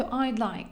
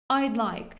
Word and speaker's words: I'd like: Або він скорочується до I' like. Would за часту скорочується до такого. I' like. І на вимові ми майже його не чуємо.